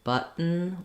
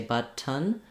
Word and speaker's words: button: For example, words like button or mountain. We don't say button, mountain with a vowel for that letter O. We just say the N sound, and it functions like a syllable.